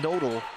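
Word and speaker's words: Knoedl: Spelled with a K. Oh, delivered with style. I love that. Yes, K-N-O-E-D-L. Kiera Nodal, not in my house.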